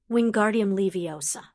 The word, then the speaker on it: Wingardium Leviosa: Wingardium Leviosa. Hermione said dryly. He actually got the pronunciation right.